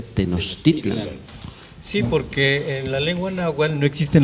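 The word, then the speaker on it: Tenochtitlan: que no titulan y que la pronunciación correcta debería ser tenochtitlán porque la lengua no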